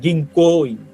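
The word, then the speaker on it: 銀行員: তো এ কারণে মুখস্ত করার সময় এই হালকা টান যেটা হবে গিংকোইং এই গিং কোইন কথাটা হালকা টান দিয়ে মুখস্ত করার চেষ্টা করবেন যদিও আমরা যখন কথা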